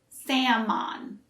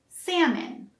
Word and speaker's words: salmon: we don't say salmon again the l is silent so we say salmon and the second syllable sounds more like min instead of an o sound we don't say sam mon we say salmon let's try it salmon